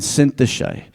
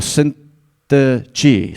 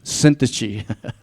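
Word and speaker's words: Syntyche: 2 to3 says now I appeal to Yodia and Cinthe or Sintach sorry that's the correct pronunciation I've actually listened to the pronunciation syntage.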